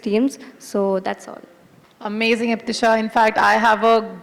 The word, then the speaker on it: Iptisha: I'll say it once again because people have a tendency to mispronounce it. It's Iptisha.